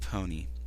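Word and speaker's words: Pon-3: "First of all, it's pronounced pony. The 3 throws a lot of people off.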